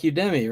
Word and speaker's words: Udemy: pronounced Udemy.